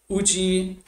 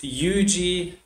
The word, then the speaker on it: Uji: And as I demonstrate in my paper, already the translation of the title of Dōgen's texts, Uji, or in the pronunciation that was more common in older manuscripts, Yuji, already the translation of the title poses problems on both of these levels.